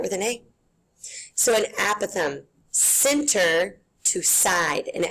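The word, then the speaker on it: apothem: write this one down aatham that's how you pronounce it aatham like a Apple so not aoam but aatham is technically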